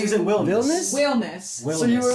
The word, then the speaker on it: Wilnis: I thought you said Williams almost. No. Williams would have gone way that would've too gone- far Yeah, off. well, you can pronounce it like the Dutch way.